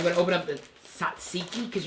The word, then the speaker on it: tzatziki: Okay, I'm going to open up the Tatziki because you're not supposed to pronounce the T. Tatziki.